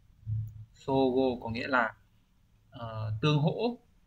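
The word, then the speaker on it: 相互: Thì trong trường hợp này ấy, cái chữ tương của chúng ta nó sẽ đọc là so, như vậy chúng ta sẽ chọn được đúng là số 3. Sogo có nghĩa là tương hỗ lẫn nhau.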